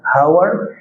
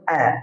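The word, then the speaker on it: hour: أنا هنا الصوت اللي نطقته اور هنا قلتش هاور لا، قلت اور.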